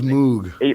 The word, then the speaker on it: Moog: But is that how you say it, Moog? I always thought it was Moog.